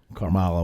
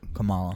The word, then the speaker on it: Kamala: yeah pants crush yeah carmella carmilla whatever however pronounced the name i'm trying to be disrespectful but isn't it camella carmella kamala is it kamala kamala okay sorry sorry kamal wasn't